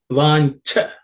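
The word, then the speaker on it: vāñchā: In the fourth line, vancha. This in and cha, this cha is the second letter in the cha varga or cha class of consonants, so it has to be aspirated. Vancha with a little bit of air.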